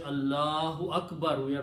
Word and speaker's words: Allahu: But when we stop, we don't pronounce last letters harkat.